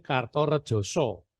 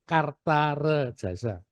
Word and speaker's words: Kartaredjasa: ng ya Kok tua ditulis jadinya kartorejoso karena so dalam Aksa bahasa Latin itu hurufnya a so kalau o kan so kartto Rejoso jadi tulisannya K Rejo Doi a jadinya tulisannya orang hari ini membacanya kartajasar kas bukan Kerta rejasa tapi kartarejasa orang sering keliru kalau nulis tuh disangkanya Raden Wijaya ktarejasa padahal ini kartorejoso tapi y wislah kekeliruan